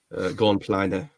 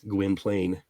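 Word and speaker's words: Gwynplaine: just um Poor Pitiful gon PL or gwin plain depending on how you want to pronounce it but uh yeah it's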